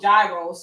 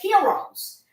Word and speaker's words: gyro: familiar with um they call we call them gyro in New York City but they they really the right pronunciation are called Heroes it's not spelled like that but that's how